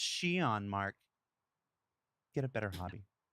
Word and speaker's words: Xi'an: and go immediately to comments and say it's pronounced xi'an mark get a better hobby oh i'll say